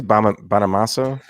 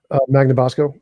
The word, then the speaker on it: Magnabosco: Bonamasso? Magnabosco.